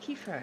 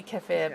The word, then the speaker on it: kefir: okay okay yes i've always heard it pronounced kiefer so i i don't know okay apparently kefir but i haven't found that out by invitation i will switch that pronunciation thank you right it's